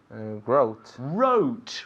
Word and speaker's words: wrote: Wrote. Wrote. Muy bien. Okay, so every day I write. Yesterday I wrote. Not rote, but wrote. The W, of course, is silent, yeah?